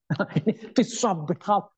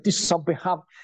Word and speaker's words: Tisha B'Av: Nah, Senin dan Selasa yang lalu tanggal 12 dan 13 itu adalah hari namanya, kalau bahasa Ibraninya itu Tisha B'Av. Tisha B'Av, bacanya Tisha B'Av.